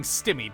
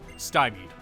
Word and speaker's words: stymied: Do I take it you were being stimied by this child? Stymied, also, is how that is pronounced.